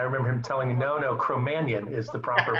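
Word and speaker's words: Cro-Magnon: Steve called him a cromanion and I thought cro-Magn was the way to pronounce that and I remember him telling me no cromanion is the proper pronunciation random I didn't do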